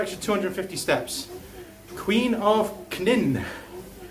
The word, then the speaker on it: Knin: But Knin, I bet you don't pronounce the K there.